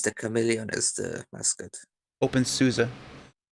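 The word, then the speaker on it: openSUSE: chameleon is the musket open souza yes susan not zeus not susie they made a musical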